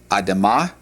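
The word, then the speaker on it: אדמה: Uh it's pronounced adama. Adama and the plural would be adamote.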